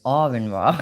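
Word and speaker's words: Aron Ra: but I watch Aurin, it's not Aaron, Arin Ra.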